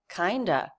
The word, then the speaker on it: kind of: of the same old kinda kind of pronounced kinda with the word of being replaced with the schwa kind of the same